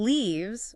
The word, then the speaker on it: leaves: And leaves, with a long E sound, can be either the plural of leaf or the verb to leave.